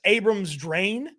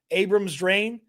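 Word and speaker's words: Kris Abrams-Draine: I had the wrong name in here, but 31 on Denver is their backup outside cornerback, Chris Abrams-Drain, I believe is how I say his name, Abrams-Drain.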